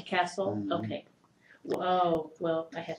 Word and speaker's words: Cassell: you or Mr casle which are you comfortable all right but we pronounce it castle castle okay whoa well I